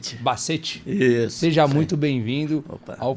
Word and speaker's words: Bassetti: bem-vindo acertei seu sobrenome é bazet que se pronuncia Bacete is seja muito bem-vindo